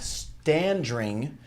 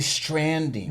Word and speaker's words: Standring: duo, Mark and Jack Standring. I always want to say Stranding. You and everybody else. There's an extra R that we get it all the time. But you said it right.